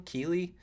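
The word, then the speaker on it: Keighley: Keely.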